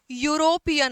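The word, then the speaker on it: European: अब यूरोपियन में इ वोवेल है लेकिन उच्चारण क्या आता है? यू यूरोपियन आता है।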